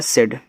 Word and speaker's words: said: SAID, एस से आपका छोटा सा, यहाँ पे देखो AI को हमने बोला भैया ए की मात्रा, डी से आपका डा सेड।